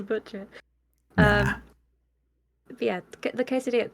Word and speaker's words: quesadilla: You actually had it right the first time. Did I? Quesadilla. Yes. Is that how you say it? Quesadilla. There you go. So like it's like saying the letter K.